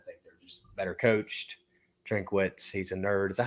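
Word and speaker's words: Drinkwitz: money line I think they're just better coached drink witz he's a nerd is that how you say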